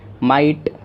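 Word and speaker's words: might: ये कुछ वर्ड्स हैं जिसमें जो हमारा जो आई ही इसका जो साउंड हो जाता है आई का, और GH हमारा हो जाता है साइलेंट, माइट।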